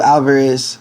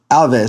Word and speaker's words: Alves: We got Platinum Mike Perry with Thiago Alvarez, or Thiago, it's Alvarez, right? Alves, sorry. I don't know why I was pronouncing his name like that. Alves.